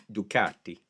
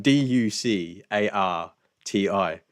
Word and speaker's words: Ducati: it's I I think because it's Italian, it's Ducati, like Benelli, Mascarpone, Pecorino Romano. It's a Pecorino Romano, Vinny. so so it's spelled Ducarti. Ducati. Ducati. I'm pretty sure Keanu Reeves says it like that as well.